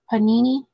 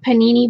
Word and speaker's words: Panini: go this is panini is that how it's pronounced panini like the sandwich panini brand so those are panini and the year on these are 2000 oh they're 20 20.